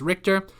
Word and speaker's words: Richter: with myself we'll call my last name is pronounced richter we'll pretend that i wrote this sentence and